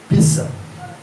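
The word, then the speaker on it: פסח: Se escreve P-E-C-A-C-H. Pissa.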